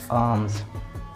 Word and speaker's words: alms: और इसका जो प्रोनाउंसिएशन होगा वो होगा AAMS, आर्म्स, आर्म्स।